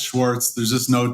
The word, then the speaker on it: Schwarz: Am I pronouncing that right? Yeah, it's Schwartz.